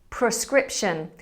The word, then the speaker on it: prescription: Prescription. We often say prescription as if it was spelt PER, but that's not the case.